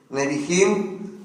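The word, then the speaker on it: Nebihim: la historia del pueblo nebim eso los profetas se escribe n e b I h i m neim nim y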